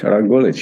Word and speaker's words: Rok Gulič: Rok Gulič. Did I pronounce it correctly? That's pretty good. Rok Gulič, yes.